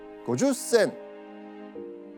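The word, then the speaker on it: 五十銭: 15 円 15 円 50 銭 50 銭 주고엔, 고주센. 주고엔은 15엔, 고주센은 50전을 뜻하는 일본어입니다. 근데 이 단어는요, 일본어 특유의 그 장음에 타금 발음이 있어가지고 조선 사람들이 발음하기 굉장히 어려운 발음이거든요.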